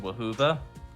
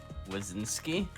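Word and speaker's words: Wojcicki: with long w words wait how are you supposed to say it actually wazinski wazinski yeah thank you polish for being a really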